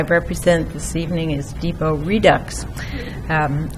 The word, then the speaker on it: Redux: this evening is Depot Redux um Redux rhymes with Deluxe I might need some